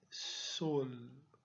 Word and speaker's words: sol: Agora, em espanhol, a palavra sol se pronuncia dessa forma. Sol, ela é mais fechada.